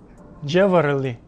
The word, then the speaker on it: jewelry: Jewelry. Это jewelry. Jewelry – правильное произношение.